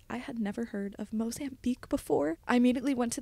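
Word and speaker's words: Mozambique: semester at C I had never heard of mosan Beek before I immediately went to the Safari app on my phone and typed mosan Beek and I feel this is important just to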